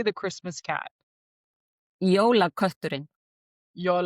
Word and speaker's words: Jólakötturinn: Jólakötturinn.